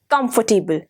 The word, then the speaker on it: comfortable: the last word is comfortable not comfortable it is comfortable r becomes silent here so today we have